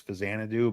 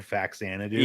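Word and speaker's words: Faxanadu: fazanadoo just cause like i learned that it was fazanadu but growing up we all said facsanna dude yeah so like i don't begrudge anybody that pronounces it yeah i don't well i don't care how people pronounce anything but um like i think people have said back santa do long enough that you have to consider it like a legitimate pronunciation you know you are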